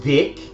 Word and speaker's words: Wick: the throat lenes well they changed the name to Wick which actually is pronounced Vic and the v in